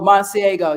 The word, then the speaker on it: Masego: I'll I'll get his name I apologize oh monsiego yeah that's it that's it my my niece